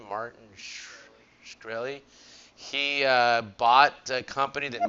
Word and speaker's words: Martin Shkreli: Martin Shkreli.